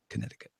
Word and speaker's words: Connecticut: you Bobby from Connecticut Connecticut I wonder why the sea is silent in Connecticut I wonder go ahead